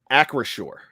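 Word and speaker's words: Acrisure: me out with this make sure i'm correct across shore as far as i know that's the uh the right pronunciation accuracy stadium yeah tony let me ask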